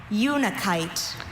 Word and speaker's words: unakite: Your word is unikite. Unikite. May I have all the information? Unikite. This is the only pronunciation.